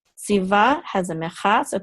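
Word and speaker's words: צִוָּה: going to say va, si va, and this hay is silent. Now, anciently, the vav is pronounced like a W, more like a W. So anciently, it would have been pronounced as siwa, siwa.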